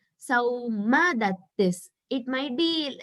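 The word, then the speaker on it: Saumadatti: So I heard it as Saum Dattis, but it is Sauma Dattis. It might be like that in Hindi. I don't know Hindi, so just saying Sauma Dattis.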